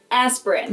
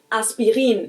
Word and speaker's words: Aspirin: about is the painkiller aspirin. Now that was the English pronunciation, but the correct German pronunciation would actually be Bayer. Bayer. And the medicine is called aspirin.